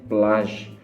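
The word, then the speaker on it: plaj: Kemudian ada contoh lagi plage. Plage itu artinya pantai. Jadi pertama aku belajar bahasa Turki kesininya itu aku ngira ini memang huruf J, tetapi ternyata pengucapan yang benar itu seperti ada huruf Z-nya.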